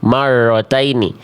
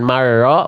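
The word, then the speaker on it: مَرَّتَيْنِ: Jangan sampai getarannya hilang. Marrotaini. Getarannya cukup seperti tadi. Mar. Marhaini. Martainini. Marotaini. Jadi bukan marro, bukan marro, bukan marro. Ah, sama. Enggak boleh monyong, enggak boleh getarannya berlebihan atau bahkan jadi hilang.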